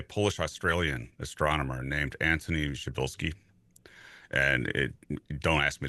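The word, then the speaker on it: Przybylski: Australian astronomer named Anthony Shabilski. And it don't ask me to spell that because it's I I was told by a Polish person this is how you should pronounce this you know and um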